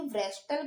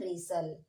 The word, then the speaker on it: wrestle: WRESTLE। तो अब हम इसे क्या पढ़ेंगे? व्रेस्टल पढ़ेंगे क्या? बिल्कुल नहीं, इसे हम व्रेस्टल नहीं पढ़ेंगे। इसे हम पढ़ेंगे, यहाँ दो वर्ड साइलेंट है, एक W साइलेंट है और यहाँ पे एक T साइलेंट है। तो अब हम इसे क्या पढ़ेंगे? इसे हम पढ़ते हैं रेसल, हम इसे व्रेस्टल नहीं पढ़ते, ओके।